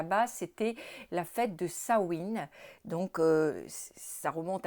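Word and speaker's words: Samhain: anciennes traditions celtique puisque les Celtes fêtaient le Sain, ça se prononce Sain le 31 octobre et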